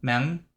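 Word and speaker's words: Manh: It's Mang, I think. M A N H, which I think is pronounced something like M. Mang Mang.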